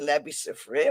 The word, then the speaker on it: Labby Sifre: Okay, the rights to this song actually belong to Labby Sifre, right?